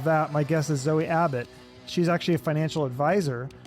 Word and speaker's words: Abbott: Is it Abbott or a bot? Because I heard somebody say it as a bot. No, it's Abbott.